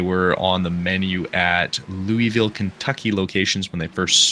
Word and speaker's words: Louisville: you on one thing as a Kentucky native you said Louisville which oh might be correct it's Louisville Louisville okay Louisville technically it is Louisville but anybody around here is going to say Louisville that's fair I